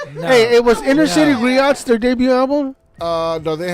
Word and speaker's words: griot: think the one that Griots. Griot. I heard it's Griots. No, it's Griots. But the T is silent.